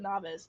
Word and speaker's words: Novis: by Novus novice whatever A lot of people pronounce it novice and I honestly pronouncing it novice is probably the best thing you could possibly do because I am definitely